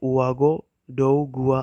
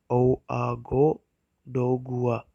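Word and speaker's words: Ouagadougou: सो Burkina Faso जो country है उसकी कैपिटल का नाम है उआगो जुगुआ, इसे उआगो डोगुआ प्रोनाउंस किया जाता है। इसकी कैपिटल को ओआगो डोगुआ प्रोनाउंस किया जाता है, और जो वहाँ की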